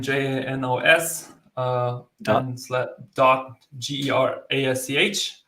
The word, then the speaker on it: Gerasch: Just type in my name, Janos, and dot GERASCH. How do you say your last name? Gerasch. Gerasch. Gerasch. But that's German though.